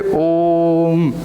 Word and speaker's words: ओम: इसका मतलब क्या है कि आपको ओ को 3 गुना टाइम तक बोलना है। जैसे इसको उच्चारण करने में, अ को जितना उच्चारण करने में समय लग रहा है, ओ को उतना ही 3 टाइम बोलना है। तो इसलिए हम बोलते हैं ओम, ऐसा करके।